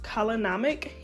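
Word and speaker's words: kala namak: Now, if you're not familiar with black salt, I believe it's pronounced kalanamic.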